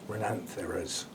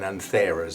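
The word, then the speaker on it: Renanthera: apparently these are renanthias renantharas not ren renamers as i've been saying it the a n is the dominant the bit you raise your voice to so that's how we'll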